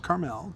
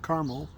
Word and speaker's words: Carmel: And as you can see, it is a single barrel selection from Vine and Table in Carmel, not Carmel, Carmel, Indiana, just north of Indianapolis.